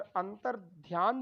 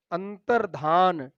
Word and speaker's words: अंतर्धान: जाति आज तो बच्चों यहां पर अंतर्ध्यान जो लिखा गया है यह शुद्ध उच्चारण नहीं है इसका शुद्ध वर्तनी वाला सख्त होता है अंतर्धान अंतर्धान याद रखेंगे अंतर्धान व में बहुत ही पूछा जाता है अंतर्धान अंतर्धान शुद्ध होता है जो यहां लिखा